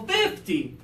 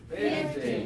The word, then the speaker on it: fifty: And then the bigger number has the stress on the early syllable, 50. 50. And the lower number has the stress on the later syllable, 15.